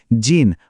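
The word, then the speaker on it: 人: একটু লক্ষ্য করলে বুঝবেন, প্রথমটায় এটা হিতো বা মানুষ হিসেবে বসেছে, আর দ্বিতীয়টায় দেশের নামের সাথে যুক্ত হয়ে এটা হয়ে গেছে জিন বা নাগরিক।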